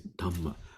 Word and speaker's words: Dhamma: Like Dharma, right? In Sanskrit, in Pali is Dhamma, Dhamma.